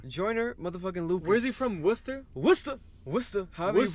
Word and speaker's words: Worcester: New England's own jointer motherfucking Luke wizzy from Worcester Worcester please pronounce it Massachusetts Worcester a bar would say